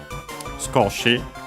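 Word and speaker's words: 少し: Skoshi, a little. Accent on the ko. The u of is barely heard if at all because it's between upper's consonants.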